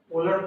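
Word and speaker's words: Wöhler: ओलर पढ़ते हैं, लिखते हैं इसको हिंदी में ओलहर। हाँ, यहाँ पे जब आप उच्चारण करोगे तो यहाँ पे ह साइलेंट होता है।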